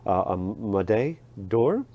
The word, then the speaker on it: Médaille d'Or: Médaille d'Or. I think everybody in American calls it Médaille d'Or, though.